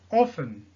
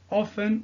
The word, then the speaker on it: often: Alors, always veut dire toujours, usually, habituellement, normally, normalement, often ou bien often, il y en a qui prononcent la lettre T et il y en a qui ne prononcent pas.